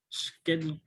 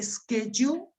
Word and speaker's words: schedule: all of you schedule schedule yeah you can pronounce this word in two ways you can say schedule or you can say schedule both are correct yeah good let's see